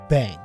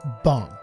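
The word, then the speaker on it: bhang: Now, just really quickly, I'm getting ready to call this bong, but in the past I've said bang, and that was the incorrect pronunciation, and I apologize for that. It is actually bong.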